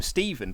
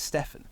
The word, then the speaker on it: Stefan: exact same way so I've always been calling him Steven but then I've been told that it's Stefan so mrs.